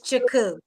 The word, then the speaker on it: Chukwu: Did I pronounce that right? You were really, really, really close. That's Shaku. it's Chaku. So it's Shaku.